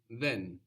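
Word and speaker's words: δεν: Greek is then then this is spelled with Delta the Greek letter looks like a d or in capitals it looks like a triangle then then so this is like the th sound in the English word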